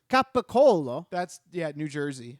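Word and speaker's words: capicola: It's gabagool is not a thing. Gabagool is not real. It's capicolo.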